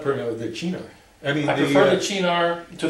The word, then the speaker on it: Cynar: It's a lot better than saying Cynar because it sounds like cyanide if you do that.